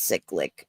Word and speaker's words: cyclic: So it kind of creates that constant cyclic nature of of viewing the content. It's pronounced cyclic, but we'll let it slide.